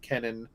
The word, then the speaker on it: Kenan: This is where Batman of China goes, why do you let them call you Keenan instead of Kenan? Which is how your name is pronounced.